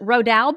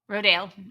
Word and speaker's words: Rodale: you say that Jess is it rodal books rodale yeah rodale okay with rodale books